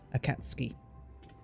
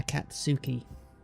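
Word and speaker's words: Akatsuki: here's a here's one we what we learned from earlier right is two but it's but followed by key you remove it so it basically becomes a cat ski a cat ski it's not a catsuki not unless you you want to get laughed at sounding like a child ah she oh ignore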